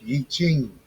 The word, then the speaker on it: I Ching: It's pronounced I Ching, a system of divination, philosophy, and guidance used